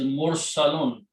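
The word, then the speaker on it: مرسلون: The one who is being sent is mursalun. This pattern keeps coming. Mursalun.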